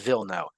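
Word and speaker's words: Wilno: will no or in in Polish it's actually pronounced v no some slobs had migrated there I forget when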